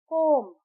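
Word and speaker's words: comb: हम जब प्रोनाउंस करते हैं तो विसल नहीं कहते हम कहते हैं विसल कोब्ब यहां पे बी साइलेंट है कोब हम ऐसे नहीं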